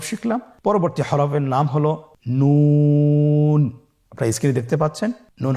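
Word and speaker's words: نون: আপনারা জিহ্বার আগাটা তার বরাবর উপরে তালুর সঙ্গে লাগিয়ে উচ্চারণ করুন এবং আমার সাথে বলুন নুন। আবার বলুন নুন।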